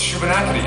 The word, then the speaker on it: Shubenacadie: So, there's this bay there, near the Shubenacadie, it's the name of the river, and this Bay of Fundy. And like no, it's Shubenacadie.